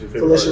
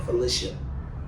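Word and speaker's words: Phylicia: But yeah, so Miss Felicia Rashad, and that's how you say it, Felicia, not Felicia. It's Felicia.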